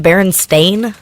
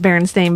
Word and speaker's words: Berenstain: Also, doesn't that mean it should be pronounced Berenstain? I believe that is correct. It should be pronounced Berenstain, but everyone says it incorrectly, which probably leads most of you to believe it was with an E.